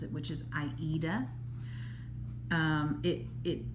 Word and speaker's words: Aida: pronounces it which is aida um it it it is named after the play the opera aida um some people i think especially in the uk they pronounce it ida that's what i've heard